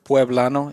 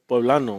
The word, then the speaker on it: poblano: Soy poblano. Or That is true. Hidalguense or like Michoacano. Like that's Actually, they say soy poblano, They do. right? Pueblano? Poblano. Poblano.